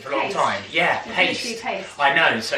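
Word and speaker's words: Payst: Oh, which is I I couldn't pronounce it for a long time. Yeah. Paste.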